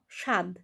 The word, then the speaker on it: স্বাদ: বয় ফলা আকার দ স্বাদ সেখানেও কিন্তু আমরা স্বাদ বলছি স্বাদ তালব্য স উচ্চারণ করছি আবার ধরো স্বামী সয়